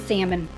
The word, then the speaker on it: salmon: Well, for one, he used to pronounce the L and salmon, and he was very cheap.